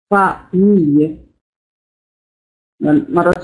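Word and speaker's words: femme: تكتب ولكن تنطق ا بالنسبه لفم لا اقول ولكن اقول فم فم فم فم مع انطق اه هكذا تنطق اللغه الفرنسيه فم فم لا اقول لا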